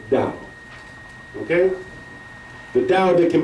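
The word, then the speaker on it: Tao: text it's spelled t a o it's not to It's pronounced da okay the da that can be named is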